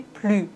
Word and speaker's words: plus: Mais quand l'adjectif commence par envoyer, on doit faire la liaison plus.